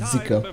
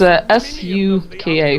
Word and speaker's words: Suka: I always pronounce it Zika because I didn't know any better. Yeah, it's S-U-K-A practically saying so Suka. It's really simple.